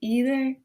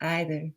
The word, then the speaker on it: either: It goes, you say either, I say either. You say neither, I say neither. Neither, either, neither, neither. But what I love about the song is it shows that there's two ways to pronounce these words, first of all.